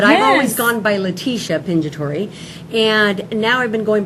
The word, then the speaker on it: Pingitore: from Italy but I always gone by leticia pinja Tori and now I've been going by because